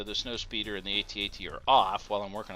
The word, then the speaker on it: AT-AT: It's funny, some people, like, I say AT-AT simply because if you say at, like whenever you try to do the scout one, it's ATST. So how do you say atst? I mean, like, it just doesn't sound right.